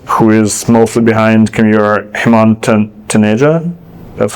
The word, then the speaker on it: Hemant Taneja: General Catalyst, who is mostly behind Commure, Hemant Taneja, that's how you pronounce it, posted on LinkedIn that Commure needs